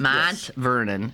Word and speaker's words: Mont Vernon: So remember, there was this town, Mont Vernon, and I'm not saying that with a Pittsburgh accent. Yeah. That's just Mont. It's the French pronunciation.